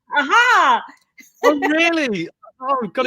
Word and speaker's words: Aja: and co-created with David Ayer. It is Ayer, isn't it? You have to say it like aha.